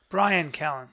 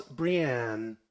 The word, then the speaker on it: Bryan: chris dalia brian brian your name is spelled b-r-y-a-n yes i know you would pronounce it in my program that spells brienne i mean he's uh he kind of has a point if you'd like your name to be brian will will have to